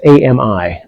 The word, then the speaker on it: Ami: leader one Amy perin it's Ami I don't think that's pronounced Amy so we'll say Amy an